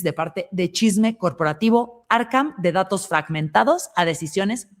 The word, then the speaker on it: Arkham: Arcam se escribe A-R-K-H-A-M y así les dices que vienes de parte de Chisme Corporativo. Arcam, de datos fragmentados a decisiones con inteligencia artificial.